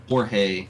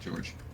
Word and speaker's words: Jorge: Jorge, not George.